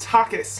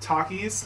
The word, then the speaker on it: Takis: The top four comments on that video are, it's pronounced Takis, not Takis.